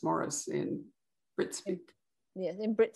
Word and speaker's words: Maurice: want to call him maurice and it's really hard for me to call him morris so for those who are wondering it's spelled m-a-u-r-i-c um and but it's pronounced morris in brits yeah in